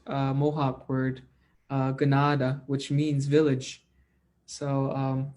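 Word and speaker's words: kanata: it's actually a mispronounced uh mohawk word uh ganada which means village so um when people say i am from canada they're mispronouncing a word from our own people which is pronounced gennada and that means a village so everybody that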